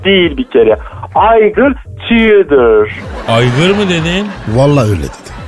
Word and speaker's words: Igor: Aygır mı dedin? Vallahi öyle dedim. Ay ilkelsiniz. Hemen konuyu böyle başka yere çekeyim. Ay bir kere Igor yazılır aygır okunur. Tudor yazılır tor okunur.